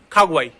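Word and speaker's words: Hawaii: इसी तरीके से एक और शब्द हमारे पास अवाई, इसको आप अवाई पढ़ोगे, अवाई, क्योंकि बोला जाता है ना, एच तो साइलेंट है, लेकिन नहीं, इसको बोला जाता है। इसको क्या बोले, खागुआई, खागुआई।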